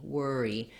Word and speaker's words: worry: and then we have two syllables for syllable stress so we want worry worry the were syllable is long and the e is short watch out that your e is still tense though you don't want it to be wor you don't want to relax that second syllable still a bright tense